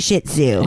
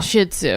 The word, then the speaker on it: Shih Tzu: It's just Shih Tzu. Shih Tzu, yeah.